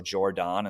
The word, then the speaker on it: Jordon: They named her Jordon, so Jordon instead of Jordan.